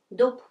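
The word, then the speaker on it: дуб: B is voiced, but when we pronounce it, it may be hard to pronounce at the very end of the word, really soft like dub. So usually we should pronounce like it's pair, voiceless pair. So it's voiceless pair is p. So it will be something between b and p, let's say dub, dub.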